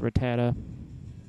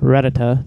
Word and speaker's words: Rattata: Pidgey so going to switch to Rattata or rata depending on which pronunciation you want to use like the one from uh Pokemon Stadium but I prefer Rattata and I'm going to